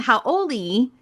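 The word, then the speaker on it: hauʻoli: So Howley is actually like a foreigner, and Howy is happy and happy.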